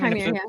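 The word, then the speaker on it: Qimir: As Chimere, is that how you pronounce his name? Chimere, yeah.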